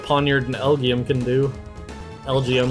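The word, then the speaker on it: Elgyem: and elgium can do lgo not elgium I don't know why I pronounced it lgm when it's a play on lgm okay well and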